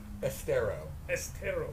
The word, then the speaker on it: Estero: Estero.